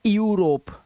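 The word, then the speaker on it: Europe: जैसे ईयू आ रहा है यहां पर यू, तो इसे ईयू नहीं पढ़ना, यूरोप। ठीक है, इसे पढ़ना है यूरोप।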